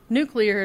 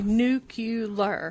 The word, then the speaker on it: nuclear: when they say nuclear nuclear is how you say it nuclear but they say nuclear even nuclear said nuclear nuclear nuclear is right nucle say nucular nucular yeah yeah I can't even